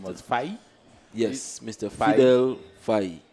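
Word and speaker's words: Fahid: got the name was Fai. Yes, Mr. Fidel Fai. Foy. He says that it's a Latin name. Spelled F-A-H-I-D, but it's pronounced Foy.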